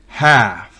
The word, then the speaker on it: half: L en la combinación ALF al final de una palabra no se pronuncia. Por ejemplo, calf, que significa ternero. Behalf, en nombre de. Half, stock.